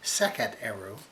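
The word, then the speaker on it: Sekhet-Aaru: The Egyptians have a similar concept called the word one Egyptian word for field is Sekhet, and their term is pronounced Sekhet Eru, and but it's interpreted in Egypt as being the field of reeds.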